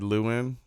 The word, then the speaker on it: Llewyn: Inside Llewyn. Am I pronouncing that correctly?